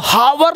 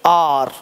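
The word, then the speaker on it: hour: एच ओ यू आर, अब हावर नहीं बोलेंगे, हावर क्या बोलेंगे आर, आर मतलब घंटा।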